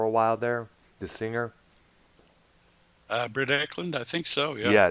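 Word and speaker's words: Britt Ekland: Britt Eklund, I think so, yeah. Yeah, that's how her name is pronounced.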